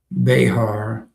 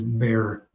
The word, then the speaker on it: Bexar: He said, "It's not Bexar. It is Bear Bear County."